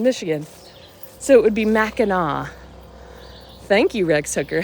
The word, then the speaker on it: Mackinac: I like our progressive learning on how to pronounce that word related to the bridge in Michigan. So it would be Mackinac.